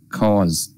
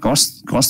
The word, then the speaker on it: cause: Chữ cause là nguyên nhân á, đọc là cause, z chứ đừng có cost, em đọc giống như là chữ cost của giá tiền.